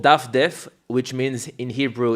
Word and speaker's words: Dafdef: It's called daffdev which means in Hebrew it's called it's mean basically mean browse.